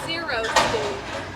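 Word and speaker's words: xeriscape: mean it's means actually it's Greek for dry and it's spelled x e r i so that's zeroscape yep zeroscape and it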